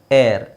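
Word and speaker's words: heir: form ಮಾಡೋದು your ಏರ್ ಏರ್ ಇಲ್ಲಿ H silent ಆಗಿರುತ್ತೆ ಅಕ್ಷರ ಎರಡು ಬೇರೆ ಬೇರೆ ಇದೆ ನೋಡಿ ಉಚ್ಚಾರಣೆ ಒಂದೇನೆ ವಿಚ್ ಇಸ್ ಏರ್ ಆ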